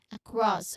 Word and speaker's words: across: So it's opposite across opposite. Now the pronunciation tip here is that in terms of pronunciation um before that we'll just say there is awa sound there.